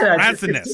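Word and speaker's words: Ratzennest: To me, I'm from Maryland, and I say RAZZENNEST, which sounds so American, but it's RAZZENNEST. It's totally fine.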